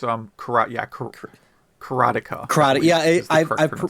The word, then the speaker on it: Karateka: for a game he wants to recommend uh kakarita or kratika or it's um karate yeah karateka karate yeah i've mispronounced it my whole life so that is